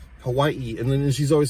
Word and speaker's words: Hawaii: Like she says, like the way that she even says Hawaii, I can't even do it. It's like Hawaii, you know, like she pronounces every A and I, Hawaii, and then she's always